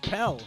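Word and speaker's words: Pelle: It's just Pell.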